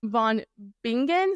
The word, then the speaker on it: von Bingen: to say this with I don't think this is how you would pronounce it in Germany but I'm going to say it in English so you can you know Von bingan so b i n